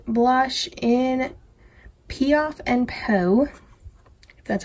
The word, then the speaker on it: Piaf: at the side Kat Von D blush in piaf and that's how you pronounce that but I had this for a